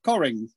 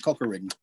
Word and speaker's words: Cockerings: but it's actually pronounced coring it's a it's a it's an old english name which is pronounced coring but looks like cockering um and it's the